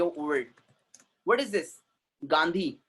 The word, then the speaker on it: Gandhi: Mister गैंडी.